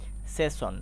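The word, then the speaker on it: session: সেসন খেয়াল করো এস এস এর আগে কিন্তু ই চলে এসেছে। এই যে এখানে ইটা দেখতে পাচ্ছি। তো এবার কিন্তু এস এস কে তালবর স এর মত উচ্চারণ করতে হয়েছে। এই যে এখানে তালবর স এর মত উচ্চারণ করেছি। যেটা আমরা উচ্চারণ করি সেশন।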